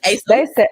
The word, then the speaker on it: ASOS: Yeah, ASOS.